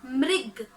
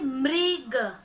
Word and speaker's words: मृग: मृग, भाग गया, क्या लिखा है? मृग मतलब हिरण, क्या उच्चारण करेंगे? मृग। री का साउंड आना चाहिए, मृग।